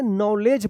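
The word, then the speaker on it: knowledge: नॉलेज पढ़ेंगे। नॉलेज मत पढ़िएगा। नॉलेज। ठीक है? यहां पे भी एन से पहले के आया है तो के साइलेंट हो गया है।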